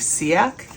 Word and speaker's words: Ciak: It's pronounced, I think, Ciak, C-I-A-K.